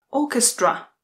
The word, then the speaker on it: orchestra: Orchestra. Orchestra. A pozor, ch se zase vysloví jako k. Orchestra.